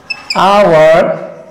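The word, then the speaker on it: hour: এই এইচ এর উচ্চারণ যদি অনুচ্চারিত থাকে, অর্থাৎ কি এইচ এর উচ্চারণ যদি সাইলেন্ট থাকে, উচ্চারিত না হয়, আমি শব্দ লিখছি, খেয়াল করো। যেমন আওয়ার, অনার, তারপর কি অনারেবল, ইয়ার।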